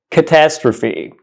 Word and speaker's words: catastrophe: seen this word yeah this word is actually pronounced catastrophe catastrophe catastrophe the correct pronunciation of this word